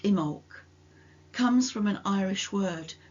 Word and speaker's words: Imbolc: Immol pronounced Imul comes from an Irish word that was originally thought to mean in the belly.